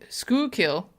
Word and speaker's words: Schuylkill: how to say it School Hill School Hill says Natalie school school kill School kill thank you okay Schuylkill Township Police Department are